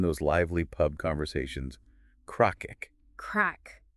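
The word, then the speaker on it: craic: but especially in those Lively Pub conversations cakic crack how do you even pronounce that it looks a little intimidating don't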